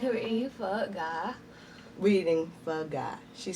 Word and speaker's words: Phở Gà: It's Phở Gà.